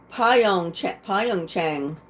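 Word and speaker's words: Pyeongchang: hockey team at the 2018 Winter Olympics in pong CH pong Chang is two two uh countries you got to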